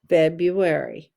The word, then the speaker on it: February: u a r y february and now let's write the word two times capital f e b r u a r y that one's so tricky because of that silent r february capital f e